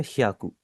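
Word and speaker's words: 百: सबसे पहले सो को हम जैपनीज़ में कहते हैं हियाकू। पहले आपकी एच वाई ए की आवाज है या और उसके आगे कु है तो ये बन जाएगा आपका हियाकू याकू एंड में जो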